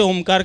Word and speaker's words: ओमकार: अ, उ और म 3 शब्दों का उच्चारण है ओमकार। तो अ का उच्चारण 2 सेकंड, उ का उच्चारण 3 सेकंड और म का उच्चारण 5 सेकंड, यानी 10 सेकंड का एक ओमकार बोलना है।